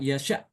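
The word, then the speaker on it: يشاء: Maka apabila kita mau wakaf di kata kata ini ya ini hamzahnya diganti dengan huruf mad ya. Huruf mad sesuai dengan harakat sebelumnya ya.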